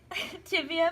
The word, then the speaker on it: tibia: And the insertion points are by her tibia, and then the femur, that's where her tibia. And I was later informed that the tibia is not how it's pronounced, it's the tibia, but I was given false information.